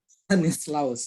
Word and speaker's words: Stanislaus: Bacanya begitu. Stanislaus ya.